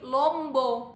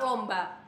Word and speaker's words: lomba: deh lomba dan kota kata lomba itu diakhiri huruf A tapi sebelum huruf vokal a ini ada huruf vokal o yaitu lom Iya kan kata ini enggak bisa nih diganti jadi Lombo itu enggak bisa tetap lomba sama halnya dengan kota